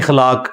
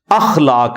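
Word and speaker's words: اخلاق: साथ होते हैं मसलन यह लोग बोल देते हैं खलाक खलाक लफ्ज नहीं है अखलाक लफ्ज है तो अगर हम यह लफ्ज यूज करेंगे तो अलिफ के ऊपर जबर डालेंगे इस तरह इंग्लिश के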